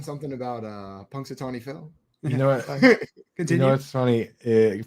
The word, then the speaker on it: Punxsutawney: you guys know who Punk story Phil is I don't yeah yeah but you're saying it wrong what is it Punxsutawney hey